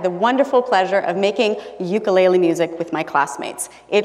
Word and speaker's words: ukulele: do i got a ukulele and i haven't looked back since for the record the proper hawaiian pronunciation is ukulele but i'll use ukulele tonight since you know we're on the mainland and all um but